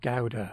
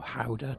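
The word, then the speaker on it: Gouda: small village just outside gowda or howder depending how you want to pronounce it it's on a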